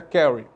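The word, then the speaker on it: CARE: Carry em inglês né em português seria Carry mas se produz se pronuncia Carry que é uma organização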